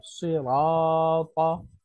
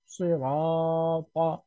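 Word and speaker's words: صِرَاطَ: অনুশীলনের মধ্যে যেমন দেখেন প্রথম শব্দটা আছে সিরাতা, সিরাতা, এটা বানান করে পড়লে সাদ কাসরা সুই, রা ফাতহা আলিফ, সিরাতা, সিরাতা, রা, রা মোটা করে।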